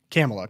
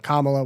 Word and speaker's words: Kamala: was apparently according to her meet Dylan she's pronounced her own name camela Kamala whatever you want to say four different ways